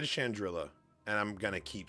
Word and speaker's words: Chandrila: I think it's actually supposed to be pronounced Chandrila because I think it's supposed to be like a play on Shangri-La. But I've always said Chandrila, and I'm going to